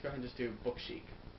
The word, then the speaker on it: Book Chic: ahead and just do book chic, and that is the way to pronounce it. So there's no need for you to mispronounce it at all now that I've said it.